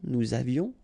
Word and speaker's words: nous avions: Nous avions, final S not pronounced, and then little liaison. Nous avions.